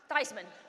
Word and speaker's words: Theismann: and we really believe if his name were to rhyme with Heisman that he has a